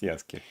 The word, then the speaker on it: Yasuke: Yasuke, yes, it's Yasuke, pronounced Yasuke.